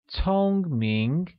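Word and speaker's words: 聪明: translates as home Ming which is pronounced with a high level tone on Oh and amid rising tone on AI becoming Tong Ming here's a quick grammar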